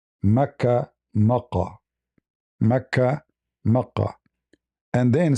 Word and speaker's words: Mecca: God, and this is Mecca. The same pronunciation. The Yemeni, they use the word, the letter Ka, in their language, it comes sometime as Qa. Mecca, Makkah.